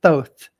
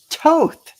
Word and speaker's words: Thoth: So Christine, I know it's pronounced so many different ways, but I'm going to pronounce it Thoth. Some people pronounce it Thoth. Some people pronounce it Thoth. And some people pronounce it Toth. So, but I pronounce it Thoth.